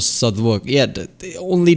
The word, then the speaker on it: Southwark: after the final syllable is silent. Norwich, Berwick, Southwark.